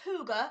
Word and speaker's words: hygge: and have a look what it means it's pronounced huger and it is spelled hy gge okay I